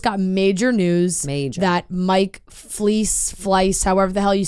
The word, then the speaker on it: Fleiss: I've always said Fleiss, but I always said Fleece, I think. I think so. I think so. I've never heard anyone say it out loud. Fleiss is probably what it is.